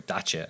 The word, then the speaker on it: Dacia: Dacia or DACA as it's officially pronounced. They're actually designing some pretty cool stuff now.